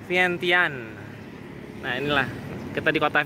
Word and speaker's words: Vientiane: dapet koneksi juga katanya ejaannya itu bukan vientin tapi vientian Nah inilah kita di